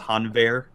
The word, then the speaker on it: Hanweir: So I think so we've officially decided the official pronunciation for this card is Hanweir Garrison.